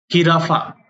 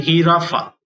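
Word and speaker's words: jirafa: अपन कहते हैं इग्लेसिया हिराफा जे साउंड अगर अपन पहले तो इसे है की तरह साउंड करते हैं इसलिए हराफा हिराफा यानी कि जिराफ उ्वाला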